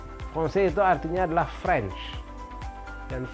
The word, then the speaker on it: Français: Lalu ada kombinasi AI, bunyinya E. Dan ada S di ujung tidak dibunyikan. Kalau kita baca menurut apa yang kita lihat, ya jadinya franchise, bahkan bingung ini C-nya mesti dibaca gimana gitu.